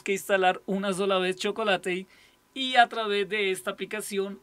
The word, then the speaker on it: Chocolatey: que se llama chocolate se escribe así como chocolate pero termina en y chocolate chocolate y su página oficial es